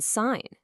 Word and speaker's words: sign: You've got the silent G in sign, the silent K in knife, the W in right, and oh yeah, that really sneaky T in the word listen.